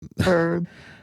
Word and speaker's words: herb: The the one that really got me is they have I've been really focused on the silent h for a while. Um just by the nature of herb herbs.